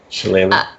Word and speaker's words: shillelagh: I don't know how to pronounce it. Shillelagh. Shillelagh.